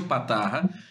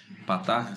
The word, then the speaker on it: Patarra: meu não é tão comum assim né patarra patarra se escreve com P de Paulo a T de